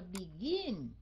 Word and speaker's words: begin: Mình phải nói tại vì nó nhấn âm cuối cùng. Mình đọc là begin. Mình bỏ dấu sắc vô cái âm cuối cùng phải không?